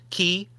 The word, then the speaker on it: quay: of you that suck I think you'll find it's pronounced key highway and my wife